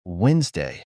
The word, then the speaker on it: Wednesday: some other words like Wednesday the letter D is written but not pronounced and there are also